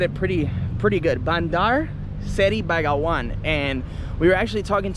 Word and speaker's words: Bandar Seri Begawan: And I was a bit confused on how to pronounce it, but I think I said it pretty good. Bandar Seri Begawan.